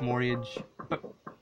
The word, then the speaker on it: mortgage: but I know it's mortgage the T is silent it's weird hey have